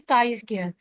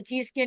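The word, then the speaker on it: chi-square: और इसको हम प्रोनाउंस किस तरह करते हैं? काई स्क्वायर। ठीक है? मतलब के की आवाज़ आ रही है। लेकिन इसको हम स्क्वायर नहीं पढ़ते या जी स्क्वायर नहीं पढ़ते। काई स्क्वायर पढ़ते हैं। तो इसको प्रोनाउंस हम इस तरह से करते हैं।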